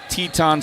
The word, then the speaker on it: Teton: And you know, like you've got uh the Grand Tetons, Mountain Range, and you've got a band of Sue Indians called the Tetons Sus. And that's how it's said.